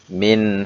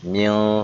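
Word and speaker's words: من: Min haulik. Tidak boleh dibaca mil, salah. Tapi min, dia harus jelas.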